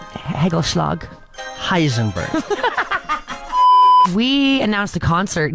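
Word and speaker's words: hagelslag: Now you're not saying it right. Hagelschlag.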